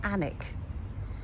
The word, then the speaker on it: Alnwick: This is called the Annick rose. I think it's spelled Alnwick but pronounced Annick.